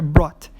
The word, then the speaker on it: brought: Mesma coisa o passado do bring, que é brought. Também não vamos pronunciar o GH. Então, geralmente, quando tem um GH no meio da palavra, você não vai pronunciar esse GH.